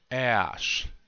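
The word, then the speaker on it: k'éš: And you have an apostrophe there. The apostrophe means just put a small pause there. A really small pause. A nanosecond. Yeah? Listen to me very closely. Ash. It sounds like a clicking sound, this K. One more time. Listen very closely. Ash. Try to say it after me. Just say the k sound, and then pause, and then ash.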